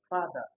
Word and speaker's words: father: We have father, display, defend, delay. Is actually going to be father. Father is like when you are in church, you are singing, father.